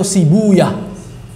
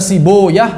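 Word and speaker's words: سيبويه: Sebagian ulama membaca beliau membaca nama beliau sibuyah boleh dibaca siboah boleh dibaca sibawai seperti rohuah rohawai kalau ahli hadis bacanya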